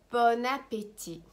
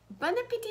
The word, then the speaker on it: bon appétit: France very often it's bon appetit Bon Appetit please guys do not pronounce the T at the end it's not Bon Appetit